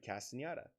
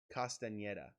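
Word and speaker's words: Castañeda: And now let's get on to David Castaneda. David Castaneda. Castaneda. I think that's how you say it.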